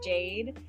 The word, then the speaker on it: Jade: because it's simple too my name is Jade and it rhymes with lemonade um and I've kind